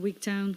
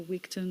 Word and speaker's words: Wigtown: It's near a place called Wigtown, which is, or Wigton, depending on how you want to pronounce it, which is really quite famous for its book festivals.